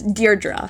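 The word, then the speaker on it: Deirdre: This name may look tricky to pronounce, but it's pronounced as deerra.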